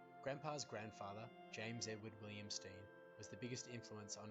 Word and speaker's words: Stein: English pronunciation steam as when two vowels are together in English the first one is pronounced to this day the